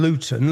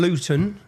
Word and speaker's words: Luton: And so anyone if you don't understand Luton Luton see I pronounce my tea there. We don't pronounce our te's.